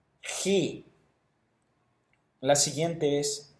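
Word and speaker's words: χῖ: Luego tenemos tau, upsilon, phi, chi. Notemos esta letra, es importante, no es como la X en español, sino que su pronunciación es como la J en español, pero un poco más gutural, algo así.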